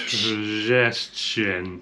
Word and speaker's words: przestrzeń: So the R, if there's P-R-Z, the R is not pronounced. It's just Przestrzeń.